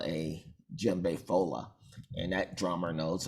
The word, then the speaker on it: djembe: about today is the gem bay and um the d is silent as you see here it's pronounced jimbei and it's the most